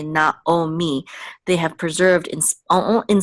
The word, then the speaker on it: Naomi: like um Na Naomi they don't say Nai they say Naomi they have preserved in